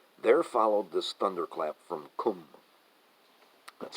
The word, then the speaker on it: Qum: There followed this thunderclap from Qum, that's spelled Q-U-M, and the thunderclap is coming from Khomeini.